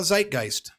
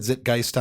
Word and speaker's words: zeitgeist: So you got that one wrong? I think so. I might have said Zitgeist on there.